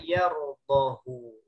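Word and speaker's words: يَرْضَهُ: Di sini ada yardahu. Hu-nya mestinya kalau sesuai kaidah dibacanya panjang. Tapi di sini di luar kaidah. Yardahu la hu-nya pendek.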